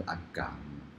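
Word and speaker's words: 阿含: 它其实蛮近的，如果用闽南的发音是阿港、哦、真的、啊、阿港，所以它是含。我们看一下它怎么发音阿港。真的是念港啊，我们普通话是喊，但是这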